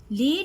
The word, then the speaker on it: lead: Lead has two meanings with two different pronunciations. Lead, rhyming with red, is a heavy, toxic gray metal.